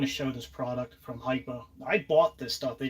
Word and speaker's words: Hipa: This is a Hypa, and it's not HIPAA. This it sounds like HIPAA law. Everybody keeps saying it wrong.